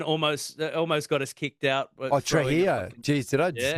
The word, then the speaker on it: Trujillo: Trujillo. Jeez, did I just mispronounce that? What? It's the Spanish. You can say Trujillo. In Mexican or Spanish, Trujillo, because the gringos say jalapenos.